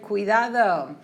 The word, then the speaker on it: cuidado: that S sound, ciudad, but this is pronounced with like a K sound. Cuidado. Cuando viajo.